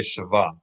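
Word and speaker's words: שווא: This is shwa, shwa, Shva. right? In modern Hebrew, they say shava.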